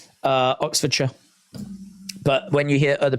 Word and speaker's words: Oxfordshire: In this country, it's Oxfordshire. It's pronounced sh. Oxfordshire.